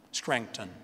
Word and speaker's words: Scranton: Biden si ricorda che lui è cresciuto in Pennsylvania, una cittadina cacofonica che si chiama Scranton, Scranton si dice con accento americano.